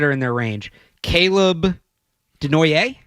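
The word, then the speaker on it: Desnoyers: Caleb Denoyer? Denoyer is how I'm pronouncing it. I've heard Denoyer, but I think it's Denoyer.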